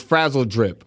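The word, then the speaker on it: Frazzledrip: And um what you were speaking of, Larry, with the Hillary Clinton situation, I said it wrong. It's frazzled drip.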